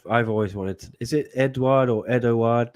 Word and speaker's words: Eduard: a question I've I've always wanted is it eduard or Edward how are we pronouncing it exactly oh he's Edward you know Edward Edward yeah okay edoard Edward